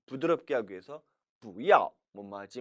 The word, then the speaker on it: 不要: 不要 원래는 要 사성이고 不도 사성이라 不要 라고 발음해야 정상이지만 不要 하면은 발음도 힘들고 또 상대방에게 오해를 미칠 수도 있죠.